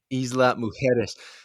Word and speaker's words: Isla Mujeres: We're gonna have to work on your Spanish pronunciation, by the way. Isla Mujeres.